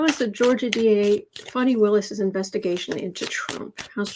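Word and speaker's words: Fani: georgia what i heard is her name is pronounced funny fanny willis the george the d.a in georgia so at 40 7.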